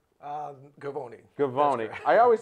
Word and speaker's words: Govoni: uh my show today his name is Matt goani did I say that right um gavoni gavoni I always say the last name wrong it's easy to get your first name